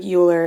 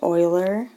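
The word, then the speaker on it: Euler: Oiler so so even though this looks like uler it's pronounced Oiler looks like that Oiler formula for the relationship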